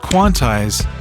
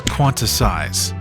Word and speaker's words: quantize: Also, it's pronounced quantize not quantisize.